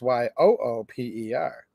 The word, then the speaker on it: Yoop: You can say up in the, don't say up in the letter U-P. You have to say up in the Yoop, Y-O-O-P. And then if you're referring to them, it's Y-O-O-P-E-R.